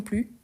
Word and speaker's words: plus: toujours moi non plus ici on ne prononce pas le S ok au lieu de dire moi non plus non moi non plus ok parce que c'est